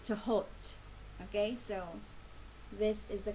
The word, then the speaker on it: Thoth: Okay, today I'm using the Thoth Tarot. Some people pronounce it as Thoth, Thoth, or Thoth, but in Arabic it is actually Tahot.